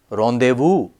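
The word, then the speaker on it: rendezvous: r n d z v u s it's pronounced Rondevu TS a r or c z a r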